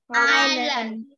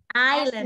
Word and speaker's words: island: Có phải là Iceland không? Island. Island, đúng rồi. Chữ S không được đọc lên.